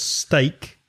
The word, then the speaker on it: steak: me explain that it's a play on words because steak s-t-e-a-k of course kane and stake same pronunciation s-t-a-k-e is where for example